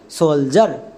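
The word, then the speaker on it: soldier: আই ই আর যার সোলজার সো এখানে আমরা ভুলেও ডি এর জন্য ডো উচ্চারণ করবো না তাহলে আমাদের ওয়ার্ডটা ভুল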